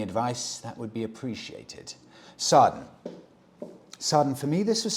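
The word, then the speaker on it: Srđan: is I begin Freddy my name is sarden pronounced ah pronounced something like surgeon I'm from Serbia and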